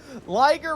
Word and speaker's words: liger: Liger rhymes with Tiger.